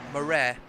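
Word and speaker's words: Maré: And funnily enough, my surname, is spelled M-A-R-E, but the E's got an accent on it. So if you say it in an Afrikaans accent, it's Murray.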